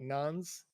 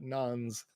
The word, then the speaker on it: nonce: once came about, but nonce is how you pronounce it. Not nonce, but nons. Weird. Maybe well, that it's just spelled wrong. Wait. No, I was right. Yeah, nonce is correct.